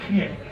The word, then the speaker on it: Geert: I think in Dutch it's Geert.